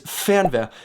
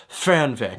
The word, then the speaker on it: Fernweh: I've got Fernweh. Just make sure you don't pronounce it Fernweh, okay? That's not it. It's Fernweh.